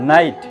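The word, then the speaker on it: night: দেখুন যদি আই জি এইচ এই তিনটি লেটার পাশাপাশি থাকে সেক্ষেত্রে শুধুমাত্র আই এর উচ্চারণ হবে এবং জিএইচ এর উচ্চারণটা সাইলেন্ট থাকিবে। এক্সাম্পল নাইট ডাইট ফাইট ডাইট এইট এই ওয়ার্ডগুলোতে দেখুন এই জিএইচ এর উচ্চারণটা উজ্য থাকিতেছে।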